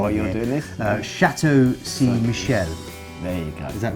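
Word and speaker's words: Chateau Ste. Michelle: And this is in partnership with, and I'm going to get my pronunciation really wrong. Why you're doing this? Chateau Saint Michel.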